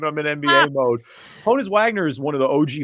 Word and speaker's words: Honus Wagner: one of the almost I almost said Honus Vagner just because it's spelled the same I'm in NBA mode Honus Wagner is one of the